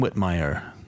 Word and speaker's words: Whitmire: It's called William Whitmire. Okay. That rhymes with Billy Fire.